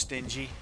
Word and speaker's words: stingy: Actually, it's pronounced stingy, Scarlet, but probably never heard that word before.